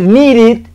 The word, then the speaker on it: needed: sonido va a ser, no es ni id, ni es ed, es exactamente un intermedio entre los dos. Insisto bastante, tengan mucho cuidado con esa pronunciación de esa i, que nosotros en el español no la tenemos y es simplemente una i muy rápida o una e muy rápida. Entonces, en lugar de decir needed, Digo es needed, needed, needed, needed.